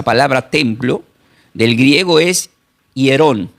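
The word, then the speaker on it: ἱερόν: Del griego es hierón con h i e r o n. Yerón, templo, que significaba lugar dedicada a la adoración.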